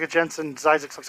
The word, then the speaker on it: Zzyzx: That is the road on the way to California, the ZZYZX, and that is how you say that is Zyzix. It is not Zizix.